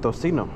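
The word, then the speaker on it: tocino: it but really it's pronounced tosino but nobody calls it that unless you're from like um further south like Central and South America I think or if you want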